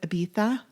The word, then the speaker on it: Ibiza: Ibiza, which I'm like, Ibiza is how it's spelled and how I always grew up saying it. But I know it's Ibiza. Okay.